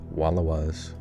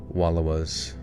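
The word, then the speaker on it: Wallowas: Wallawas rhymes with allow us.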